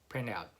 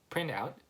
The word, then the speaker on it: print out: Yeah, so when you say print out, you don't necessarily, oh, there you go. Then I'm wrong then. Then you don't really pronounce the T, right?